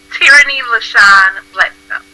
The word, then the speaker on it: Teirrany L Bledsoe: And can you say your full name for me so everyone Yes, gets the correct it's pronunciation? Teirrany L Bledsoe.